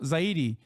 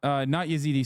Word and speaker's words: Zaidi: Zaidi, not Yazidi. Sorry, not Yazidi. They are Zaidi.